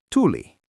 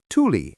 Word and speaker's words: tuli: If you want to say fire or he came, the word is tuli.